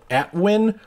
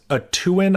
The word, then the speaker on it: Atuin: So, my buddy turned me on to this project called Atwin, or I believe it might be pronounced a Tuin. I could be pronouncing it wrong. I say Atwin.